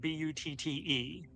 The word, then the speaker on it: butte: So how does one pronounce the word B-U-T-T-E in a geological sense?